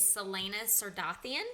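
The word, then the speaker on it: Celaena Sardothien: So our lead female, our FMC, is Selena Sardathian.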